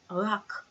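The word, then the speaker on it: רק: R. Vowel underneath is A. Next letter is K. Rak.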